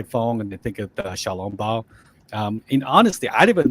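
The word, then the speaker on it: 小籠包: Xiaolongbao? Yeah, it's actually pronounced Xiaolongbao.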